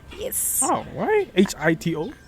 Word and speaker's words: Hito: Yes, so it's actually pronounced Shito. Shito. Yes. Oh, why HITO?